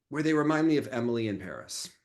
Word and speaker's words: Emily in Paris: show I I and I thought it was Emily and perie wasn't it supposed to rhyme oh maybe but it's say they pronounce it Emily in Paris um listen the whole